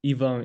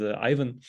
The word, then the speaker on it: Ivan: um it's funny because Ian is how my name is pronounced in my mother language which is Russian but in English I present myself as as Ivan um um I've been